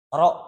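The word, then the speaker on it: rho: Kategorinya statistik non parametrik dan simbol statistiknya itu eh roho atau bisa dilihat jadi eh dengan rumus R. Nah, dibacanya itu ro.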